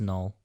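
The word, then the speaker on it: Knull: null crow just null as far as i know it's just null i always want to pronounce the k in that yeah i don't know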